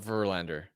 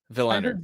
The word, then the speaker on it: Willander: Did you say Verlander? No, not Verlander. Willander.